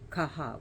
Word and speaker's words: Catha: crow sometimes she is her name is B kaha which is spelled k Sorry c a t h a but it's pronounced kaha and that means battle Crow she is the